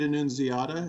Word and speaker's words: Annunziata: Ed Annunziata, is that how you say his name?